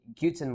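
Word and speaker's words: Guten: good morning it says it's supposed to be guttin Morgan so um TR says that the G Morin is pronounced as in English as the G with double O meaning the goo sound right goo and then 10 so goo 10 right so and also Al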